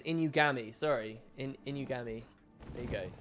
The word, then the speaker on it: Inugami: Oh, it's Inugami. Sorry. Inugami. There you go. Sorry. You can hear a pitch change.